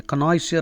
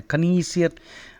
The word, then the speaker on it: connoisseur: The opposite is a connoisseur or a connoisseur. Alternative pronunciations are there.